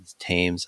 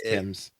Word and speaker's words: Thames: It's Thames. I hate pronouncing that one. I'm pretty sure And you were the other right, one, that it's Tim's. Thames.